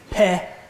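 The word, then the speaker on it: פה: Just peh.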